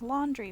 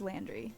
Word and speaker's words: Landry: cats do okay that that's probably pronounced slander but I fully read that as laundry first good job Artemus my name is Landry just interrupt if you